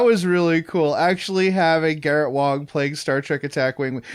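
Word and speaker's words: Garrett Wang: uh uh garrett uh garrett wong ah okay and the a is pronounced oh so i i had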